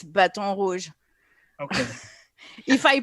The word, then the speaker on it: Baton Rouge: No, it's Baton Rouge. Okay. If I pronounce it like a French person, it's Baton Rouge.